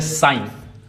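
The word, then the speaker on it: sign: जैसे साइन साइन अब साइन में जी साइलेंट है।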